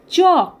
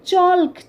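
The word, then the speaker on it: chalk: ওয়াক এখানেও এল silent চক সি এইচ এ এল কে অনেককে আমি পড়াতে দেখেছি এই চককে চলক চলক এরকম ভাবে বলেন তো কোনভাবে হয়তো তাদের জানা নেই যে এল কিন্তু সাইলেন্ট থাকে এখানে সেই কারণেই আমরা চক বলি একই রকমভাবে দেখি ভাওয়েল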